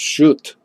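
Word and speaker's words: Schutt: Monica it's monica and it's SCH utt shoot i think his house pronounced shoot guess and dave he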